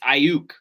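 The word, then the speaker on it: Aiyuk: y is violent though it's ayuk so i think the y is silent i said why silence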